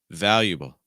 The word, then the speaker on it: valuable: Notice that vow is the stress. So hold that nice and long. Val. And everything else you can speed up.